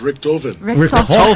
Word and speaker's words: Richthofen: It's German. It's German. You know how to say this? Richthofen. Just Richthofen. Richthofen. So basically, you're making it a lot more so complicated. it's basically like it's saying, rip open.